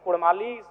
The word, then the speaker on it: कुड़माली: इसीलिए मैं मांग करता हूं कि र के स्थान पे अड़ किया जाए। क्योंकि कुड़माली साहित्य की बात करें तो अड़ का महत्वपूर्ण स्थान है, जैसे काड़ा, माड़ा, भेड़ा, पीड़ा, डाड़ा, गौड़, मोड़, ये उच्चारण केवल कुड़माली साहित्य में ही संभव है।